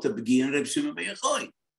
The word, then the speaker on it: Yochai: Ashkenazim say Yochai, but the Sfaradim say Yochai.